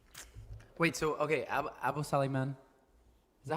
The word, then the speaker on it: Sulaiman: So okay, Abu Saliman. Is that how you I love pronounce this man. his last name? Sulaiman.